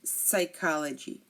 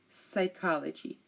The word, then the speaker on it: psychology: psychiatrist psychic psychic and psychology psychology again pseudoscience psychiatrist psychic and psychology here you notice that we did not pronounce the P because it came before